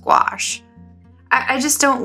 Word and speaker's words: gouache: gouache i always say goucher and it's actually pronounced gouache i just don't like that word gouache it sounds like squash and i hate eating